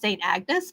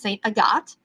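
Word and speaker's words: Sainte-Agathe: But then when we got further up into it, it looks like it's pronounced St. Agnes, but it's St. Agathe.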